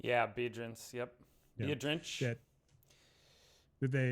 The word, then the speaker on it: Biedrins: Yeah, Biedrins.